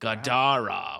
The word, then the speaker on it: gadara: something like three syllable grow gadara with an accent on the second syllable this dude [ __